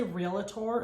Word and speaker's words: realtor: i would suggest is never say realtor again sorry i know i say it all there's no a in real time i know and i